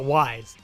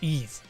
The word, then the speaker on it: Ys: do another ease cover i used to call it wise and then we talked about this a few years ago actually pronounced ease well i ever do